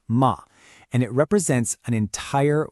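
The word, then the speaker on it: 間: This single character right here, it's pronounced ma, and it represents an entire worldview, a whole philosophy that is absolutely key to understanding this Japanese approach to space.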